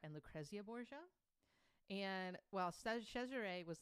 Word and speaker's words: Cesare: way oh yeah but in the italian form it's pronounced cesare that's interesting anyway there was a rumor that cesare and lacrezia were sleeping